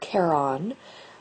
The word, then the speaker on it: Charon: to cross the river Styx and Charon actually pronounced Charon in mythology was the boatman that would take